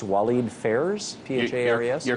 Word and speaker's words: Walid Phares: of their advisors that including what is it pronounced Walid Phares PHA areas you're correct for Trump and Frank